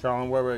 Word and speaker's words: Schaller and Weber: Schaller and Weber, am I saying it right? Schaller and Weber, exactly.